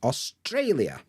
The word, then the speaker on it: Australia: and you can see the apostrophe is before Trey so I know that that's where the stress is Australia good and here we